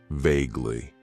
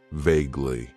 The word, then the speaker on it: vaguely: Then we have an adverb that I like to use, and that is vaguely. It has 2 syllables, and the stress is on that first syllable. Vaguely.